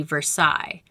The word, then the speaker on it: Versailles: a dumpster in north versailles township shopping center which shares its name with the french city versailles but in pittsburgh ease we pronounce it versailles it was placed